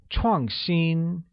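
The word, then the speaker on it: 创新: to say innovative which translates as chong ching chong xin is pronounced with a falling tone on a and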